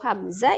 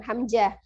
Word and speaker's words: Hamzah: kemudian ada Hamzah Hamzah jadi pengucapan huruf hamzah itu bukan pakai huruf ja bukan buku huruf gym ya bukan Hamzah tapi Hamzah pakai huruf Zain huruf di akhirnya ada